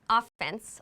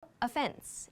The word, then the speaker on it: offense: So, the pronunciation here is not offense like in sports, offense and defense. This is no offense. No offense.